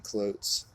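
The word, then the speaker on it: Cloyes: It looks like I got a Coates double roller time and chain clyotes.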